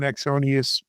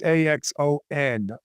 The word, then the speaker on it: Axonius: Lenny, for people who want to get more information on Exonius, I'll spell it. It's Axonius.